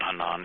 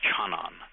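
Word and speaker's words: חנן: His name was Hanan, and I told him, no, it's not Hanan. Your name is Chanan. No, he said, it's Hanan. I said, no, it's not. It's Chanan.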